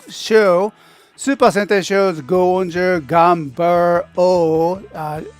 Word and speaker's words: Gunbir-Oh: Super Sentai shows Go-onger Gunbir-Oh. In a Japanese way, Ganbaru-Oh.